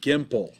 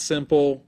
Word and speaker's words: Gimple: Scott M. Gimple. Yeah. Not simple, but Gimple.